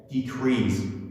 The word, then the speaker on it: decrease: learners want to say decrease, but that is completely mistake. If you want to pronounce the correct form of this word, we can say decrease. Decrease. The emphasis is on S, decrease.